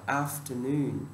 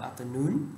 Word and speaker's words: afternoon: Từ tiếp theo, ví dụ như là cái nhấn âm, cái trọng âm quan trọng, ta đọc là afternoon, ta không đọc là afternoon, ok, afternoon.